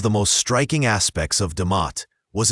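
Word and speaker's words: D'mt: Around the 8th to 5th centuries B.CE, a fascinating kingdom known as Dumat, pronounced Damat, began to coalesce in the northern highlands of what is now Aratria and northern Ethiopia.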